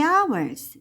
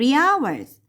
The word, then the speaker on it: hours: 이틀 동안 for the hours 자 얘는라고 안 읽고 아이라 그랬어요 h n 발음이 나지 않아요 그래서 3 hours 세 시간 동안 얘는